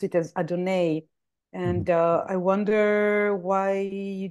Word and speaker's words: Adonai: Yes, I'm familiar with the Hebrew pronunciation of Adonai. The reason I say Adonai is because that's what Ra says.